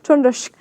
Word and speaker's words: Trøndersk: Trøndersk. Is that right? Is that how you say it? Trøndersk.